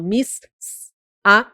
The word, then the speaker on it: missa: Pronuncio missa. Tenho sss. Com o som de uma letra só. Eu não falo miss a não, eu falo missa.